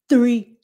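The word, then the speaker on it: three: It's hơi thở chứ không phải là giọng nói. 3. Và trước khi mình nói ra, mình phát âm cái chữ R đó, là mình phải rút cái lưỡi lui. 3. So it's your breath, okay? It's your breath. Put that tongue out and blow.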